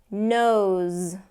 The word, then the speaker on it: knows: on that voice supervisor knows okay which is going to be the same pronunciation as nose like he knows everything